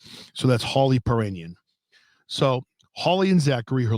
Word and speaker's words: Piirainen: holly h-o-l-l-y the last name is puranian and it's spelled p i i r a i n e n so that's holly perrinion so holly and zachary her little brother arrived